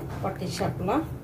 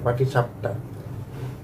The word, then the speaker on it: পাটিসাপটা: তো এখন জাস্ট উল্টে নিব, পাটি শাপলা পাটি শাপলা না পাটি শাপটা হয়ে গেল পাটি শাপটা আমরা কিন্তু আগে ছোটকালে পাটি শাপলাই বলতাম বুঝছো আমরাও বলতাম যেটা উচ্চারণ হচ্ছে পাটি শাপটা পাটি শাপটা কিন্তু ছোটকালে